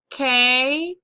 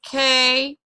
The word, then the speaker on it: canine: K-9. Canine. This is the correct spelling. When we divide it into syllables, we divide it here. And this syllable is accented, so it says K9. K9.